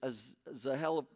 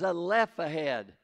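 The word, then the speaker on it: Zelophehad: chapter 27 verses one through seven this is as a hell of excuse me it's a le this is a left ahead i've pronounced it wrong my whole life and i'm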